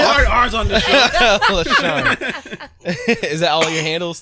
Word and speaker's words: LaSharne: LaSharne. Yeah. LaSharne. Like yarn, but LaSharne. But that's how I say yarn. Bow. LaSharne. Okay. Hard R. Hard R. LaSharne. Ain't no hard R's on the show. LaSharne.